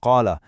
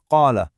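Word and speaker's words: قال: The "a" sound at the end of "qala" is written right there in the script. When you connect the words, you say "qala rabbana".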